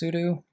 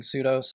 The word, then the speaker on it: sudo: really matter I think the correct way is sudo well I've gotten in a bad habit and just been saying pseudos okay so why is